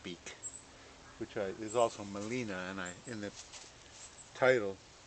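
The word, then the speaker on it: Gmelina: know how to spell Molina it spells it m o l i n a which is wrong it's GM e l and of course the g is silent so it's parrot be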